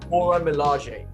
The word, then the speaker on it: Dora Milaje: I looked it up because I wanted to pronounce it. Dora Milaje.